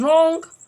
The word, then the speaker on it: wrong: Next is wrong. Wrong means galat, so W is a silent letter.